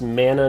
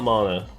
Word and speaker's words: mana: It's pronounced mana, not mana.